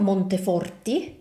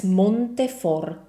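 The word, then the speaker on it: Monteforte: So as you can hear it's not Montefort but it's Montefort. So remember whenever you have an ending e in Italian it's pronounced as I. So if your last name ends with an e, make sure to pronounce it the Italian way.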